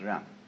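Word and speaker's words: 仁: I don't know what they are but it's pronounced R and it's a character Chinese character that confucious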